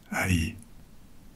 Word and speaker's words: Ay: Peut-être bien celle de son grand vizir, une sorte de premier ministre, Haï. Ça s'écrit A-Y.